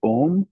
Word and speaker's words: Om: You can chant Om, or you can divide it into the 3 syllables A, U, M.